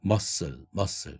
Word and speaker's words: muscle: 그 6번째, 7번째 다 마찬가지로 castle이 아니라 castle, 성이라는 뜻이고 muscle이 아니라 muscle, 근육, apostle 이런 식으로 스트을이라는 자음이 3개가 한 단어 속에 받침으로 연결되고 있는데 가운데 C2에 해당되는 발음이 트, 크 이런 파열음이죠.